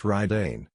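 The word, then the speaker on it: Raiden: eyes flashed electric blue this was radian pronounced Ryden the lightning Warlord the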